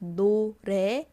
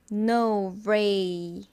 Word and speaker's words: 노래: It's pronounced 노래, or it can be like it's yellow. There's two meaning for it, but then I'll say it's song. And if I explain it in romanization, it'll be like this, right? N-O-R-A-E. Then a lot of people pronounce this like no ray. It's actually pretty much okay, fine.